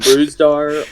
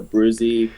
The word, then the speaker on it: Brusdar: I pronounce it Brusdar. Brusdar? Okay. I know, my teammates pronounce it Brusdar or Bruzy, but, I honestly don't know.